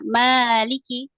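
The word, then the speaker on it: مَالِكِ: dibaca Dua harakat ya Maliki kalau dalam mazhab Imam Maliki Imam Malik ini bacanya enggak panjang Maliki yaumiddin Ya tapi kalau maab kita harus dibaca Dua harakat yaikiin silakan Masyaallah selanjutnya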